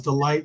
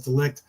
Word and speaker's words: De Ligt: I thought it was Delight, possibly, but it's Delict, or however you pronounce it.